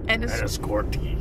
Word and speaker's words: Enniscorthy: So, I'm in Enniscorthy. Enniscorthy. Enniscorthy? Ireland. Okay. The H is never pronounced. The TH is... It's like tree... Instead of three.